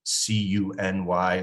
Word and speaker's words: CUNY: So there's a network of public institutions in New York City referred to as CUNY, or the pronunciation of the acronym CUNY, or the City University of New York.